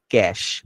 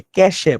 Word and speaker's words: cache: Load হয়, ওইগুলারে বলে ক্যাশ। অনেকে ক্যাশে বলে, ক্যাশে, কিন্তু অ্যাকচুয়ালি উচ্চারণ ক্যাশ।